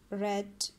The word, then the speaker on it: read: sent run rain run read red red the pronunciation will be changed here but the spell will remain same path past past smile